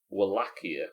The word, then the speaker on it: Wallachia: Wallachia is how you pronounce, or how the closest my stupid English-speaking voice can get to pronouncing the actual region in Romania.